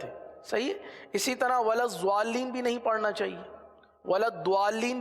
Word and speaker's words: الضالين: ولضالین آواز کو بند کر دیا جاتا ہے، ضال کے بعد ضالین، اللام تو حذف ہو گیا ایک طریقے سے، ہے نا. ضال لام دو مرتبہ پڑھا جاتا ہے، ایک ضاد کے ساتھ ضال، کس طرح ضال، کس طرح ضال، اور دوسرا لین. صحیح، یہ دو ہو گئے. اب سنیے، ضالین.